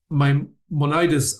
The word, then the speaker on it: Maimonides: Maimonides, I think, is the English pronunciation.